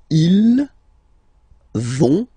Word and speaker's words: ils vont: So ils vont, final T, not pronounced.